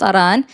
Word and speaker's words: Iran: And by the way, it's pronounced Aran.